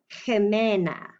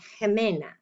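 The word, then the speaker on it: Ximena: name is actually pronounced kemena you don't say the x like an x at all but it is an x name hemena all right last word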